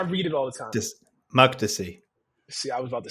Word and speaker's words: Makdisi: How do I pronounce this? Because I read it all the time. Makdisi.